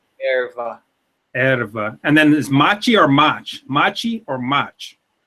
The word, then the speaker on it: mate: And then is machi or mach? Machi or mach? It's none of those. It's like between them. It's machi. Machi. Yeah, that's perfect. Machi.